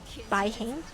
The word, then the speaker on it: Bai Heng: Bai Heng? Is that how you pronounce it?